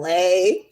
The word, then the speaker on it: ELAY: LA, pronounced like LA, like this city.